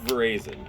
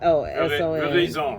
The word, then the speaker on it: veraison: until full veraison.